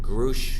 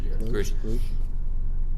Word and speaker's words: Grusch: What's interesting though is this latest whistleblower, David Grusch, I think his name is pronounced Grusch.